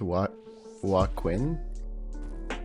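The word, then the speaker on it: Joaquin: It's pronounced Wa Quinn.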